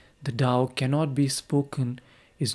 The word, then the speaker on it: Tao: In Lauzu's philosophy, the unity is called Dao. Although it is written Tao in Chinese, it is pronounced almost as if it were spelled D O W rather than T A O.